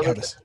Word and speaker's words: Gedgaudas: It's pronounced No, Gedgaudas. yeah, I was just a Gedgaudas. Yeah, Gedgaudas. I was about to compliment you on your pronunciation.